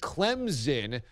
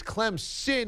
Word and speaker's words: Clemson: But Clemson's another one because people use it as a Z, Clemson. But as you just noted, it is Clemson with an S, right?